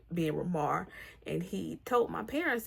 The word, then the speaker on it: Ramar: It's not pronounced Raymar, it's pronounced Ramar.